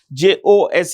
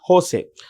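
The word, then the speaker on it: José: This is a Spanish name and it's pronounced with an H. Jose is Jose. Jose Raul Mulino is the president-elect of.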